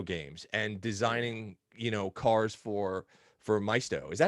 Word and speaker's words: Maisto: and designing cars for Maisto. Is that how you say it? Is it Maisto? Yeah, it was Maisto. Yeah, Maisto. People will say either way. It's fine.